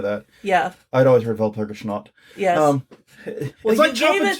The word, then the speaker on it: Walpurgisnacht: James Thurman said, Walpurgisnacht. I'm sorry, Valpurgisnacht. Okay, I looked up the pronunciation.